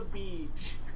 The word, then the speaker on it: Beej: And it's called The Beej. The BJ. Pronounced like a word.